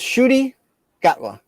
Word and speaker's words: Ncuti Gatwa: Ncuti Gatwa. So his name is Ncuti Gatwa. You had the right last name. That's how you pronounce that, Ncuti? Ncuti, yep. The N is silent, and it's like a.